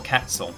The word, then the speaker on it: quetzal: perfect sort of way silver quetzal or quetzal the u is silent and galv 2809 both